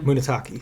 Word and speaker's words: Munetaka: Very good pronunciation. Uh I What's the first name again? Munetaka.